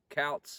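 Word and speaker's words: Coutts: the other one being cows alberta i found out that is how you say it it's not coot scouts calls alberta which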